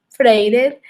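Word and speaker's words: Freire: pues esa propuesta de paulov fake sólo se pronuncia freider y él nos invita a crearnos conciencia y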